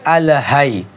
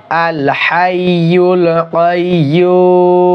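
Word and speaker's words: الحي القيوم: হাইয়ুল কাইয়ুম আল হাই অনেকে বলবে আল হাই এরকম না আল হাইয়ুল কাইয়ুম শুরু থেকে বলুন এ পর্যন্ত আল্লাহু লা ইলাহা ইল্লাহু আল হাইয়ুল কাইয়ুম ঝটকা হামজা শব্দের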